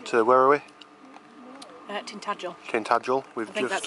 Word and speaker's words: Tintagel: Tintagel. I think that's how you pronounce it.